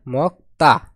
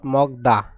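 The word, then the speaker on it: 먹다: মক্তা মক্তা মানে খাওয়া এর উচ্চারণ হবে মক্তা মক্তা নট মগদা হবে কি মক্তা মানে খাওয়া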